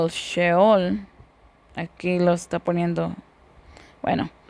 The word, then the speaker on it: sheol: Ah, sheol, así es como se dice, se pronuncia con la h, por eso le puse así. No tiene el ch, no tiene el mismo significado que ahora le atributamos.